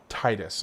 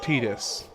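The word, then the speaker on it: Tidus: For me, it it is Titus or Tetus depending on your preferred pronunciation or if you're going off the official pronunciation, then Tetus.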